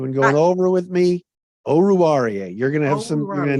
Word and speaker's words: Oruwariye: Oh, and I wrote it down phonetically. You've been practicing this. You've been going over with me. Oruwariye.